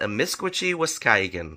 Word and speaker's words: amiskwaciwâskahikan: So it frustrates me because 36,000 people have watched this video learning the incorrect pronunciation. Amiskwaciwâskahikan. So the correct way to pronounce it is amiskwaciwâskahikan.